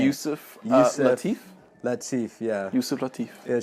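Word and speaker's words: Yusef Lateef: Yusuf Lateef.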